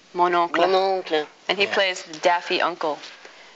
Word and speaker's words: Mon oncle: Where he plays, the one we used was, you can pronounce it. Mon oncle. Mon oncle.